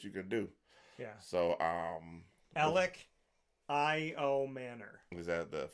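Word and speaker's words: Elic Ayomanor: So Alec I.O. Manor. Is that the phonetically? Yeah. Alec from Stanford. Alec I.O. Manor. There we go. So I said it wrong every time. Alec I.O. Manor.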